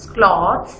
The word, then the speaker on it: cloths: Pronounce cloths like cloths, C-L-A-W-T-H-S। इस तरह से K-L-A-W ये आपको समझाने के लिए, प्रोनाउंसिएशन सिखाने के लिए ये स्पेलिंग लिखी है कि हम इसको ऐसे पढ़ेंगे cloths, ठीक है।